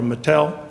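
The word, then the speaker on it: IG Metall: later by charles about our ig metal or mattel as it's pronounced in germany again a similar situation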